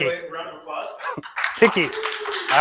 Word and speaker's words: PKI: Picky. I like it. PKI and US. I like it. It is picky. Take away a round of applause. Picky.